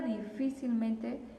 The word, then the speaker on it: difícilmente: en la i vale vamos a contar las sílabas yo tengo última penúltima antepenúltima y antes de la antepenúltima la palabra difícilmente sería una palabra sobreesdrújula porque porque es hasta la cuarta sílaba verdad que tiene su su tono fuerte y aparte la palabra